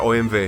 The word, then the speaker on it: OMV: Para Erin, una parada obligatoria es la gasolinera OMV, que se pronuncia OMV.